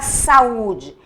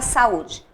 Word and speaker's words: saúde: Não é o U, logo essa é a sílaba tônica.